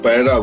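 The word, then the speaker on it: पैदा: And Paida is the birthplace. Now, it is written Paida, which means birth, but it is pronounced Paira, which means feet.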